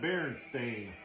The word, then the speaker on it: Berenstain: So apparently there's just a whole generation of boomers that just don't know how to spell or pronounce. Because that clearly says stain.